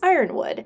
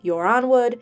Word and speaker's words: Yronwood: house Martell this video I'm actually going to pronounce it house Ironwood since that's the only pronunciation I haven't given any love to however if you watch my other videos you can pronounce it as yonwood uran wood yuron wood Etc it just depends on who you talk to house Ironwood came to